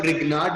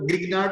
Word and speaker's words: Grignard: इसमें G silent होता है, इसे आप रिग्नार्ड रीजेंट भी बोल सकते हो और ग्रिग्नार्ड भी बोल देते हैं कहीं पे, ठीक है।